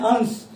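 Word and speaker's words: अंस: देखिए, इस अंश में ये जो सा है इसको दंती सा बोलते हैं। इसका जब उच्चारण करते हैं अंश, तो दांत एक दूसरे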